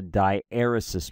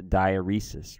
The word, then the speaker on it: diaeresis: two dots is a die eros mark I mispronounce this word for for a decade I used to pronounce a diaeresis right I was like it looks like diuresis to me and and I would